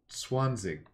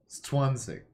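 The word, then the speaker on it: zwanzig: Okay, well, even with this hint, German is a Z pronounced like ts. So, Swanzig. Swanzig.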